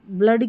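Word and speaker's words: blood: लेकिन देखिए ब्लड की जो स्पेलिंग रहती है, यहाँ पर एक्सेप्शन है, डबल ओ है, इसको अ पढ़ा गया है।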